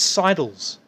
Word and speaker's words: sidle: I know a lot of people seem to have trouble with that word. It's sidles. That's how you pronounce it.